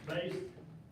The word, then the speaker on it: Base: with Pace words it's funny how many people have a hard time with that name but it's just really simple my name is base and I live on